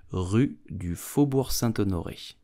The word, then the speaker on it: Rue du Faubourg Saint-Honoré: So how do you pronounce the name of this famous street in Paris? You will say Rue du Faubourg Saint-Honoré.